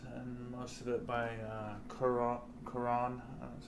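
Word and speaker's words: Garrón: This is by Jason Aaron with a little art by Ed McGuinness and most of it by Karan. That's how you pronounce his last name.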